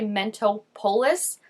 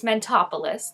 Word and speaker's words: Mentopolis: I look at it I want to say mental polis which is not correct it's mentopolis like Metropolis it's not Metropolis as much as I again want to say that it is it's mentopolis so ever since they